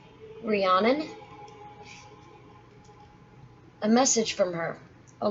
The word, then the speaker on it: Rhiannon: Pronounced Rhiannon.